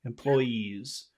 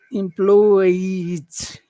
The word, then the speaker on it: employees: or is that pushing out of your mouth employees no it's a vibration yeah so this is